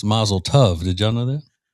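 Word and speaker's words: mazel tov: Masletoough. It's actually pronounced masletov.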